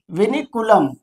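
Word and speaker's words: vinculum: तो कहेंगे बेटा ये वेनीकुलम होता है। क्या होता है? वी मीन्स क्या होता है? तो वेनी वेनीिकुलम।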